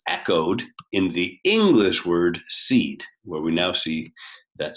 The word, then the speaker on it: cede: This is an English base that we name by spelling it CDE, C-E-D-E. It's pronounced seed.